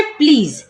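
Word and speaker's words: please: Next है प्लीज, प्लीज में भी लास्ट में क्या है, ई, तो ई हो जाएगा साइलेंट, तो पढ़ेंगे प्लीज।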